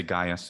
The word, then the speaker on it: Gaius: to turn it off is actually three syllables um we say gaius of course in english